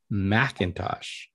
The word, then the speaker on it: Macintosh: was phonetically identical okay so it was spelled m-c-i-n-t-o-s-h but it was pronounced macintosh got it and so